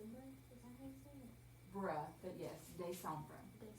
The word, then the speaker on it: décembre: Bruh, but yes, décembre.